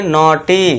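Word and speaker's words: naughty: यहाँ देखिए एन के लिए ना हो जाएगा, ई यू के लिए हम लगा देंगे ऊपर चंद्र बिंदु अ, इसके बाद GH ये साइलेंट रहेगा और TY के लिए बड़ी की मात्रा ट के ऊपर, तो ये हो जाएगा नॉटी। इस तरह से क्या पढ़ेंगे,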